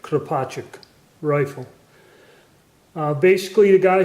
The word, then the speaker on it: Kropatschek: a model 1886 Portuguese some people call it a crow project but it's a I pronounce it carpaccio rifle basically the guy